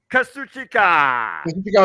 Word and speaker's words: Kazuchika: Kazuchika Okada, thank you, versus 2 members of the